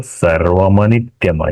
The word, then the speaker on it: सर्वमनित्यम: गलत नहीं है, लेकिन जब हम श्लोक उच्चारण करेंगे, एक साथ बोलेंगे, तो सर्वमनित्यम ऐसा उच्चारण होगा। शब्द का पूरा उच्चारण होगा, संधि के साथ होगा, संधि तोड़ के नहीं होगा।